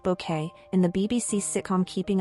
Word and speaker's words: Bucket: Dne Patricia Routoutledge the celebrated British actress most fondly remembered for her iconic portrayal of hyasent bucket pronounced bouquet in the BBC sitcom keeping up appearances has passed away at the age of 96.